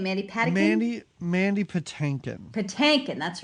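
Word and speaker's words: Patinkin: say his name mandy paddy mandy mandy pattankin patankan that's right yeah and i feel bad because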